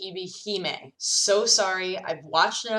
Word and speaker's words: Ebihime: very visual novels that was written by any EBP me this is me from the future coming to say I know it's pronounced EB Heymann so sorry I've watched no tsubasa Chronicles to